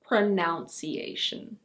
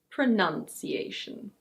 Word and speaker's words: pronunciation: It's not "pronOUNciation". Yes, the verb is "pronounce", which is why lots of people think that the noun is "pronOUnciation", but the noun is actually: pronunciation.